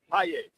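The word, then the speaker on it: Pagés: You know, Paye. Paye. Yeah, Paye. He's Cuban, right? Yeah. Cuban. And they were. But it's spelled Page. Yeah, but Paye. So here in the United States, it's just Andy Page.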